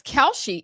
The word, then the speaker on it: Kalshi: Oh, it's Kalshi. It's not spelled like I thought.